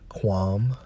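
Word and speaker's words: קוּם: the hebrew and in strong's h 69 65 pronounced as qualm and according to the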